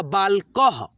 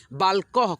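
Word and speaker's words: बालकः: लोग लिखते हैं और उस अक्षर में आधा ह का यानी किसी भी अक्षर में यानी कि आधा ह का जब उच्चारण आता है ना, तब हम लोग अह की मात्रा को लगाते हैं।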